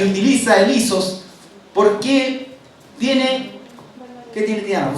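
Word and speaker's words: ἴσος: Y esa palabra en hebreo que utiliza igual es la palabra isos. ¿Ya? No sé si estará bien escrito, pero así se pronuncia.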